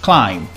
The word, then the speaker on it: climb: In English, when you find a word that finishes with MB, we don't pronounce the B. For example, climb, comb, num, bomb.